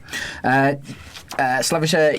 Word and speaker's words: Slaviša: Slaviša Jokanovic. Nice pronunciation.